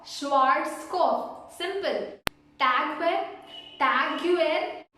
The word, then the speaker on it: Schwarzkopf: So this product mainly the people call it as, the correct way is Schwarzkopf. Schwarzkopf.